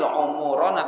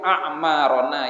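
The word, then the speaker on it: أعمارنا: dari umurku Amar jadi Bacanya jangan Allahumma thowwil umuurona tapi al-ahmad thowil a'marona ya Allah panjangkanlah umur kami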